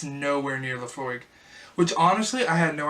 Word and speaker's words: Laphroaig: for that's about the lows I go it's pronounced Laphroaig it is an all mult Scotch whisky from